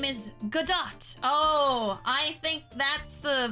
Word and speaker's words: Godot: Oh, it's Godot. Silent T, it's French. Oui. I'm so sorry. I believe it's pronounced Godot.